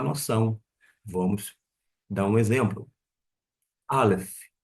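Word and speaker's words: אלף: é Av, começa com Aleph. O Aleph não é mudo, mas ele vai pegar o som de um sinal maçorético que vai indicar a vocalização da vogal, nesse caso, o A, Av, Av.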